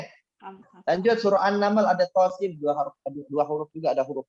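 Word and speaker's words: Ṭā Sīn: To-nya 2, sin-nya 6. Cara bacanya tosin. Ya, sin-nya yang panjang. Jangan tosin.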